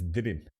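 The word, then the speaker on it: dürüm: So, a durum, a Turkish pronunciation is didim.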